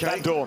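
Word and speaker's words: Vandoorne: Every Belgian I talk to tells me you pronounce the E at the end in exactly the same way that you don't when you drink Lef. Right. So it's Van Dorne and Lef.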